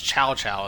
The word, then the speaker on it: Cao Cao: Even though his name's Chow Chow in this. C-A-O. That's how you actually pronounce it. But to me, it's always Cao Cao.